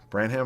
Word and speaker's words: Branham: move somebody like malachi branham branham that's how you pronounce it to the small forward